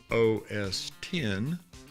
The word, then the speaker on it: OS X: We have to pronounce it, raise our right hand and say OS 10.